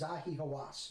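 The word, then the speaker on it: Zahi Hawass: the minister of state for antiquity affairs is zahi hawas yes i mispronounced it a little bit before and um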